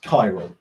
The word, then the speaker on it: chiral: optical chiral carbon this Speltz chiral but it's pronounced chiral alright so it's C h ir al and